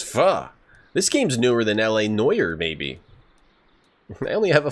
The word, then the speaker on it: L.A. Noire: Yeah, we can play L.A. Noire.